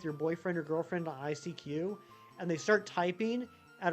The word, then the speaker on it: ICQ: Anyone remember ICQ? It's not ICQ, like I mispronounced the Pokemon name. It's ICQ as in I seek you.